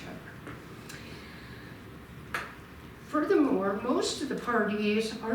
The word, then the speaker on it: Pardee: Furthermore, most of the Pardees are not related. Pardee, from the French, Pardee. That's 16th century pronunciation. The way I learned it in high school French is pour Dieu, for God.